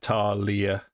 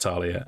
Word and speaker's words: Thalia: But Talia, which is spelt Thalia, but it's actually pronounced Talia, and then Uray.